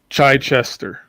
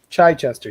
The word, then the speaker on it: Chichester: Derek heard him pronounce his last name last week at a convention. So how does it go again? Chichester. Chichester.